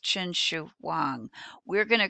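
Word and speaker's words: Qin Shi Huang: is third century bce and his name is pronounced chin shu huang we're going to call him the first emperor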